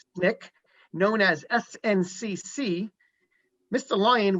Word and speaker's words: SNCC: student nonviolent coordinating committee known as snik pronounced nick known as sncc mr